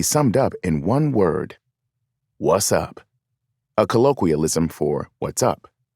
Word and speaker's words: WZUP: fictional radio station with the call letters WZUP, pronounced what's up.